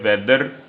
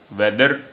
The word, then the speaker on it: weather: वेदर लफ्ज़ को American English में कहा जाता है वेदर, यानी जो उर्फ़ आम में मशहूर है, और ब्रिटिश इंग्लिश में कहा जाता है वैद, आर की आवाज़ नहीं आती, वैद।